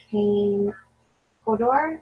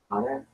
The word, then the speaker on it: Kane Hodder: And then this one is Kane Hodor, or Hodder? Kane Hodder, I think.